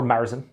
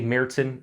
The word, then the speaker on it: Märzen: american as well or marzin as you would say as well i don't know why i do that i like to say mertzen in in the german pronunciation even though it's probably incorrect and i don't say the